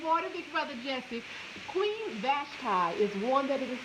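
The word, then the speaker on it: Vashti: Now, Queen Vashtai is spelled B A S uh H T I Vashtai. That's how it's pronounced. Good morning, big brother Jesse. Queen Vashtai is one that it is described.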